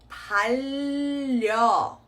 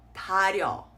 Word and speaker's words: 달려: So this word is going to be pronounced as 달려. Right? See how I've carried that sound and I've held on to that L sound in the first syllable, carried it on into the next as well. 달려. 달려. Not 다려. Okay, and there you have it, guys.